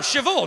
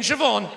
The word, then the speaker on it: Siobhan: are you talking about bh is pronounced v no it's not love